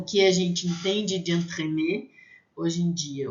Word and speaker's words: entremets: Entremets, vai ter som de A, entremets. Entremets, com S no final, vai ser plural e a gente não vai pronunciar, mesmo assim, mesmo sendo pronuncial, vai ser a mesma pronúncia.